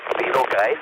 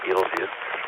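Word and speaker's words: Betelgeuse: one on the left is beetle guys that's how i pronounce it some people call it beetlejuice and the other one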